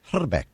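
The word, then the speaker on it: Hrbek: Fame he should be I speak a little bit of check and the actual correct pronunciation of his name is herck got to roll the eye I told that to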